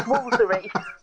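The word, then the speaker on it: Woolfardisworthy: a glossary because Ampthill in Bedfordshire is not pronounced Ampthill. And when we get to Wolfardisworthy in Devon, it's Woolsery.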